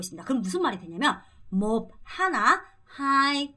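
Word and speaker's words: một: 생각보다 여러분이 발음 하실 때 조심하셔야 되는게 이거 발음할 때 몹 아니고 몹 으야 되고요 자 두 번째 이거 할 때도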